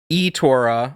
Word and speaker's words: Itorah: I don't know the origin of that word. When I look it up, I can't find a pronunciation of it. So I'm looking up all these video reviews. eToro, iTorah. People are saying it both ways. I messaged the devs. No response. Anyway, they're saying it's eTorah.